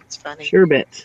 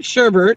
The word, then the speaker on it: sherbet: sorbet I was like sherbet it is sherbet it's not sherbert its servant girl no